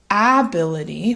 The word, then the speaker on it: ability: a so instead of ability we have ability ability another common reduction when you say this word naturally is you'll start to notice T's typically get reduced to a D sound and that's because it's